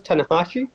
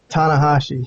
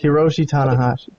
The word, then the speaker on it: Tanahashi: Japanese guy what'd you say his name was tanakashi tanahashi Hiroshi tanahashi yeah I mean I don't know much about